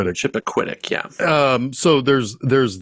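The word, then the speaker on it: Chappaquiddick: What's how's that pronounced? Chipacquitic. Chipacquitic.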